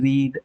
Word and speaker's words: read: What is V3 for READ, read? It can be again same spelling, but the pronunciation is read.